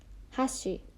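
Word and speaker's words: 箸: Chopsticks in Japanese is hashi. Hashi. And you have to be careful with the pronunciation a little bit because we have another word called hashi, which means bridge. Those two words sound very similar, so let's practice.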